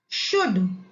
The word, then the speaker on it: should: Should, SHOULD, should। यहां पर भी L को हम साइलेंट पढ़ते हैं, should।